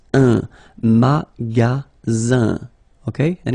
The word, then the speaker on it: magasin: Le magasin. Le magasin. Okay, remember, you've got only one S between two vowels. Then you get the sound Z, alright?